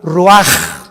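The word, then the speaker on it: רוּחַ: Así como suena, se pronuncia la CH en hebreo como J, Ruach.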